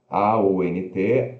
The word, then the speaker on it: aunt: Aí temos aqui aunt, que significa tia, A-U-N-T, aunt, né, mas se pronuncia o A-E-N-T, aunt, aunt.